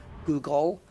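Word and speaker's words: googol: A Google, and by the way, when I say Google, I'm not talking about the search engine. It's spelled differently. It's Google is G-O-O-G-O-L, Google.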